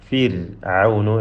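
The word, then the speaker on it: فرعون: ഫിർഔനു റാഇൻ്റെ ഉച്ചാരണം തർക്കീഖോട് കൂടിയാണ്. റാഇന് സുക്കൂനും തൊട്ട് മുമ്പിൽ കസ്റും സ്ഥിരപ്പെട്ട കസ്റുമുണ്ട്. ഫിർഔനു എന്ന് നേർപ്പിച്ച് ഓതണം.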